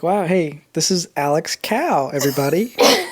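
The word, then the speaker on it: Kao: I was like Wow hey this is Alex cow everybody like the job that I had before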